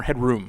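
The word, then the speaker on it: Headroom: I don't know anyway or is it head ROM or head room head room I thought but I mean I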